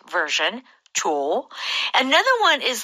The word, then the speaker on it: Cho: I should really say Cho. Cho.